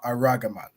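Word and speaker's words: ארגמן: With the Hebrew, you pronounce ah, right? But they are aragaman.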